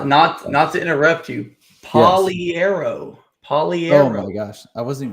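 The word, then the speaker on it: Pagliaro: Poliero. Oh my gosh, I wasn't even close. Poliero. So the G is silent. Poliero. That's what he has on Facebook. Poliero. And the I is silent.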